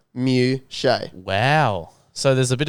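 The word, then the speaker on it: Muchea: And in this, they've got Moochia, apparently, according to Kane. Now, as you can see by this little breakdown, it is pronounced Mew-shay.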